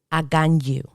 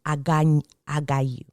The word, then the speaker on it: Aganyu: Aganyu. In English, I have also heard this as agayu. But normally there's an N that's supposed to be there. Aganyu. In Spanish, agayu. I never heard the N being pronounced.